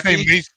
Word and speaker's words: Macek: They say Macheki? Macek, but it's actually Machek. Machek. Machek. Yeah, it's like the Machek, yeah. Italian way of saying it. Yeah. It's Okay. Czechoslovakian. Uh-huh. You're Machek.